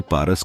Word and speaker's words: फारसी: अरबों की वर्णमाला में प उच्चारण नहीं होता है। उन्होंने इसे पारस के बदले फारस कहना चालू किया और भाषा पारसी के बदले फारसी बन गई।